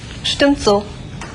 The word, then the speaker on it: Stimmt so: 자, 발음 연습해 보십시오. 10,70 70 bitte. Stimmt so.